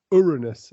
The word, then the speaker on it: Uranus: Uranus, I believe, is the proper pronunciation.